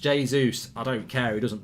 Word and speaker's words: Jesus: We always seem to catch City in a It's pronounced Jesus.